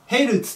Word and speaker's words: ヘルツ: 小文字の z でこれの読み方まあこれはね一応受験の本当に彼と思うんで別な問題なんですけどヘルツと言います良いからヘイルつ